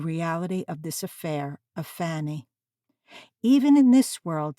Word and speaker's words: Fanny: aspirate Harry she said if you call me fenny again it's war and pinching my name's Fanny and yours is Harry